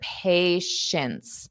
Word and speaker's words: patience: Patience. So it's a sh sound. Shints, shints, shints. Patience, patience, patience. Okay, are you taking new patients?